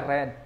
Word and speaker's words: read: read eh red sor kita baca red walaupun tulisannya sama read read readad ya tapi kita membacanya red karena verb 2 ini